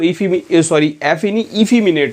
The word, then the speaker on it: effeminate: बढ़ते हैं, देखिए सबसे पहली स्पेलिंग पे एफिमिनेट पे, तो इफिमिनेट होता है प्रोनाउंसिएशन इसका।